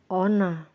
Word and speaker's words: honor: Hello everyone, don't pronounce the H әріпін айтпайтын жағдайлар. Hour, сағат. Honor, құрмет.